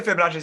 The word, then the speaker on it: Fibonacci: be fractals and the is it the Fibonacci sequence? Am I screwing the name of this up, guys? I think it's right. Okay. No, that's right. That's right. That's how you say it.